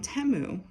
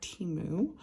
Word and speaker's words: Temu: And then I do have, okay, so here's mold I got on Temu. I was actually pronouncing it wrong. It's Temu, not Timu. There's no A in there.